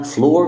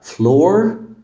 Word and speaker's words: flour: معناها الدقيق فنقول مثلا fl fl يبقى فلور فلاور فلاور لو الفيديو عجبك شير